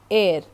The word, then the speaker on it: heir: Air, air यानी उत्तराधिकारी, एंड इसमें आप H साइलेंट रख के air, E का साउंड को प्रोमिनेंस देते हैं, स्ट्रेस देते हैं.